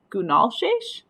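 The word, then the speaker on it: gunalchéesh: So for this word, for instance, it says it sounds like Gunalshesh, and that means thank you.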